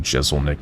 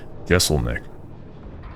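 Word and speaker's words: Jeselnik: reminds me of that one skit that Anthony Jessel Nick dig on his yeah let me pronounce that last name again gessel Nick he had a very very short live show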